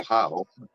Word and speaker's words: Ohio: He said police was called out in Portsmouth, Ohio, and I just started laughing. Yeah, it's pronounced Portsmouth.